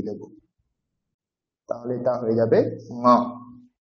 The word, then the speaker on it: ঙ: এইটা হয়ে গেলে এখানে আমরা একটা ডট দিয়ে দেব, তাহলে এটা হয়ে যাবে ঙ। ঙ, নাকে উচ্চারণ হবে এবং কণ্ঠে, নাক এবং কণ্ঠ।